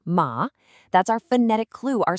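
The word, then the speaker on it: 马: Then on the right we have ma, which means horse and is pronounced ma.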